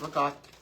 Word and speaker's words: ricotta: I'm going to say it like everyone says it. Ricotta cheese. I don't pronounce it like that. I pronounce it regard cuz I'm Italian.